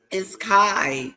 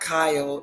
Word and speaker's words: Kai: It's Kai. It's not Kyle, it's Kai.